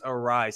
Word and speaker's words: Arraez: Arias, how do you pronounce the name? Arias, is that how you say it? Luis Arraez.